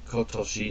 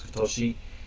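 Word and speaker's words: 今年: um kosi this year so this year kotoshi that's pronounce kotoshi nion a to Japan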